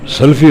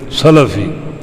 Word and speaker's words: سلفی: ہم کہتے ہیں فلاں سلفی ہے، سلفی غلط ہے، سلفی لام کی زبر کے ساتھ فلاں سلفی ہے، ان اچھے گزرے ہوئے لوگوں کا پیروکار.